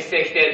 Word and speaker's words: 昔昔亭: 昔亭と書いて関関亭と読むんですね、これね。